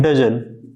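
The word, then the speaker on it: doesn't: क्या पढ़ेंगे हम लोग इसको पढ़ेंगे डोन राइट इसको क्या पढ़ेंगे डजन टी साइलेंट होता डोन और डजन पढ़ेंगे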